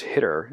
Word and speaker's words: httr: be tidy verse adjacent like httr pronounced hitter and arvest these are